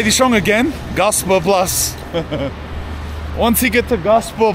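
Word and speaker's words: Gaasperplas: way is the Metro I wasn't far off your pronunciation anyway I was saying Gasper plus and he was saying gosper Plus here we are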